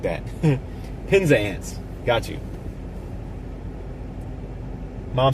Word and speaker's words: Penzance: Sarah says it's pronounced Penzance or something like that. Penzance.